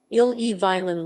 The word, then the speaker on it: Ille-et-Vilaine: the lame french pronunciation ill-e violin listen breton ilha guilin is a department of